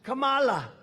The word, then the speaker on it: Kamala: No, my name's Kamala, like comma.